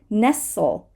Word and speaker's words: nestle: Nestle, nestle, dark L, by the way.